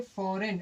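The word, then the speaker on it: foreign: signature करते हैं तो यहां पर जी क्या होता है साइलेंट होता है क्लियर है नेक्स्ट देखते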